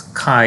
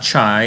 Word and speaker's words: chi: what it looks like this symbol is x but it's chi it's a greek letter chi not chai even though it's spelled c-h-i right it's chi-square and it is the